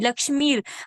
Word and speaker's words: लक्ष्मीर्: आप हाँ आप लक्ष्मी यस्य नहीं, लक्ष्मीर। आप य पे अगर देखें तो र की एक मात्रा है, जिसको हम हाँ लक्ष्मीर वो जी।